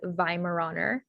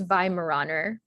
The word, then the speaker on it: Weimaraner: um language pattern examples the va sound is spelled with a w so um this sound at the beginning spelled with a w and then the i sound in german is spelled with an e i so the the vi sound then would be spelled w e i um and so then your spelling is w-e-i-m-a-r-a-n-e-r for weimaraner um then another example was